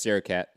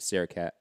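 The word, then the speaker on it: Srisaket: So say it's Sarah Cat. It's like Kit Kat, but Sarah Cat.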